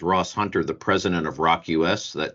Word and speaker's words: ROQ.US: Just in case you joined us late, this is Ross Hunter, the president of Rock US. Don't forget, it's spelled ROQ.US.